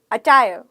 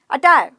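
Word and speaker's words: attire: अचायर, अचायर, अचायर, अचायर, अचायर, अचायर, अचायर। मैंने र बोला लास्ट में? नहीं। तो क्या बोलोगे? अचायर, अचायर, अटायर। च नहीं बोलना, ट बोलना है।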